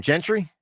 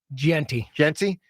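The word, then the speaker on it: Jeanty: Gentry? Genty.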